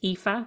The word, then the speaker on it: Aoife: spell my name name it's spelled a o i f e and it's pronounced epha and my surname is